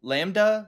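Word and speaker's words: LaMDA: So L is capitalized, A is lowercase, MDA capitalized. So like Lambda. Lambda? Oh. Lambda.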